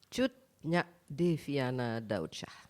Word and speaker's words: Cut Nya Deviana Daudsjah: Cut Nya Deviana Daudsjah.